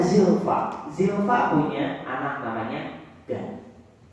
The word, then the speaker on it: Gad: Zilfa punya anak namanya Gad. Kalau bahasa Inggris God. Ya, dibacanya Gad juga.